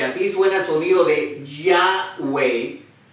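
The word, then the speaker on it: Yahweh: nombre de dios y se pronuncia yang wei entonces para los judíos pronunciar yaway oo en español yo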